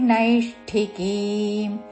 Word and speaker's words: నైష్ఠికీమ్: కర్మఫలన్ త్యక్త్వా శాంతి మాప్నోతి నైష్టికి తలవిషాతు శాంతి మాప్నోతి మాప్నోతి శాంతి మాప్నోతి నై న ఐత్వముతో నైష్టి ముర్ధన్య షకి మహాప్రాణక్షము ఠవత్తు నైష్టికీం కీ దీర్ఘము చివరిలో పొల్లుమ నైష్టికీం శాంతి మాప్నోతి నైష్టి ికి